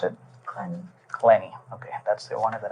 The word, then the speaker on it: Clenney: right and your last name how do you pronounce it CL clenny okay that's the one that I need needed